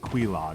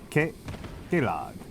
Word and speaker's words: Queelag: This whole time I thought there were two E's, so I was pronouncing it Queelag, like it was like queen with an N drop. I just noticed there's only one E, so it's not K. Queelag.